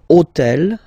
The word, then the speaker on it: hôtel: took on purpose this hôtel, okay, because it starts with H, but remember that in French we don't pronounce H, okay, so basically the first sound of the word is the vowel O, okay, so for the